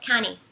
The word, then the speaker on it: county: Mas pra pronúncia americana, county, você não vai pronunciar o T, vai ser como se não tivesse, fosse só um N, county.